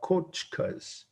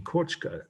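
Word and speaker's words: kotcha: For instance, these teepee-looking houses are the Miwok kochkas. And that's the right word for this. That's part of the meaning, kochka, K-O-T-C-H-A.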